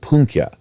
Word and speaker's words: pwnco: Okay, not like Eminem in 8 Mile, but flighting, in Welsh called pwncio. That's spelled Pwnco.